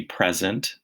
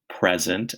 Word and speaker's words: present: It could be present, as in a gift. It could be present, as in I'm here, I'm present. Or it could be present, which means to show something.